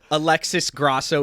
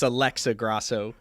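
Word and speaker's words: Alexa Grasso: is Jean gwali and I believe you said Alexis Alexis Grasso it's Alexa Grosso um so if I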